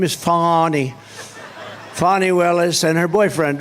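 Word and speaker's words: Fani: right has anybody fonnie Fanny it's pronounced fonnie F ni that's Fanny that's right but she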